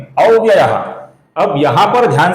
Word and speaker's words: अव्ययः: तो संस्कृत के नियमों के अनुसार जब विसर्ग के आगे प अक्षर आता है तो विसर्ग का उच्चारण फ इस प्रकार होता है। बहुत ही हल्का सा फ रहता है, जो बहुत ही कम सुनाई देगा।